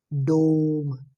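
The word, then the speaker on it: dumb: सुन पा रहे होगे डोम डोम ये हो गया हमारा डोम दोस्तों हमारा हो गया डम डम ये बी जो दोस्तों साउंड होता साइलेंट होता है इसमें डम ये डम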